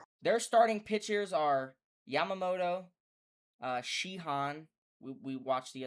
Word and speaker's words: Yamamoto: How do I pronounce his name? Yamamoto.